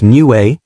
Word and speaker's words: Niue: Niue, pronounced Niue, is a raised coral island in the South Pacific, about 2,400 kilometers northeast of New Zealand.